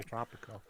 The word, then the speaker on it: Tropico: You gotta roll your R when you say Tropico.